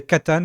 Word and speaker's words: Catan: Euh oui, j'attendais Catan comme prononciation mais katan, c'est OK.